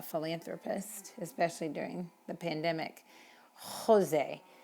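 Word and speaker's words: José: especially during the pandemic jose in spain is pronounced with a very very almost in the back of your throat sound so you might hear that among spaniards but generally speaking it's jalapeno jose juan etc okay if there's anything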